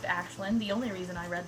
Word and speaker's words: Aislinn: main character's name is it's spelt Aislinn it's pronounced ashlynn the only reason I